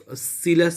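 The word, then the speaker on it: Scylla: এবার এই সিলাকে কিন্তু অনেকে স্কিলাও বলতে পারে, অনেকে শাইলাও বলতে পারে, অনেকে স্কাইলাও বলতে পারে। ঠিক আছে, যে কোনো উচ্চারণ সবটি কিন্তু ঠিক।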